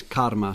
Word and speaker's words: karma: I'm pronouncing the R as told by you because it's not karma as in the Kama Sutra, it's karma something else, and bhakti and so on.